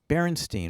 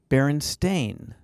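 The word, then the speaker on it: Berenstain: or barenstein bears well many people remember distinctly barenstein or barenstein with a s t i n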